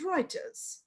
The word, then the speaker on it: Reuters: And it is mostly published by Thomson Reuters, although the spelling is Reuters, but we pronounce it as Reuters.